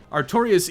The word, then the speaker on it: Artorias: Now it's time to run through the garden to Artorias, which rhymes with victorious, I've just realized. Oh boy, that damage is not good, and the Avalon really locks you down. Artorias easily punishes sluggish weapons, so this has an inevitable conclusion.